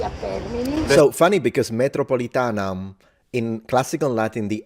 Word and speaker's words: metropolitanam: They said, do not pronounce the M if you don't want to sound like a barbarian, which means fully nasalize it, metropolitanam, which makes it sound like Italian, metropolitana.